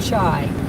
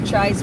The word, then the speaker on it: Tsai: it was Reggie stsi Michael Ry and Dr chai that are all running for congress uh if